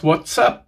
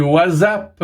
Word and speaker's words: WhatsApp: Bon, à la base, ça se prononce WhatsApp, mais c'est devenu WhatsApp suite à la francophonie.